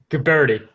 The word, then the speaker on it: Guberti: Guberti.